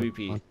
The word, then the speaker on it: AWP: The op. It's pronounced op. Yeah, it was imbalanced like mad. AWP, yeah. That's too powerful. Op. Right, the Whatever. AWP. Anyways. No, it's literally pronounced op.